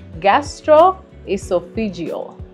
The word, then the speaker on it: gastroesophageal: Thank you so much for having us today as we discuss more about this thing that I can barely pronounce. So we said it's gastroesophageal.